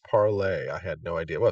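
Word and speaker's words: Parler: makes really good sense spelled parlor pronounced parlay I had no idea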